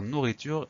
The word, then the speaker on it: nourriture: Alors nourriture, il a deux R au milieu, il a un E qu'on n'entend pas forcément à la fin, donc on fait très attention à ces deux choses-là.